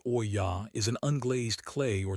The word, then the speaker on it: olla: An olla, pronounced oy-yah, is an unglazed clay or terracotta pot.